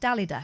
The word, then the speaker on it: Dalida: It's pronounced Dalida. No, it's not.